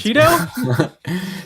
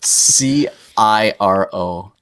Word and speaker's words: Ciro: So that's Cheeto? Ciro. That's not Cheeto. That's an R.